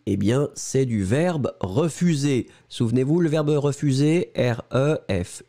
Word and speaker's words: refus: e f pu s le s final on ne prononce pas ensuite les formes forme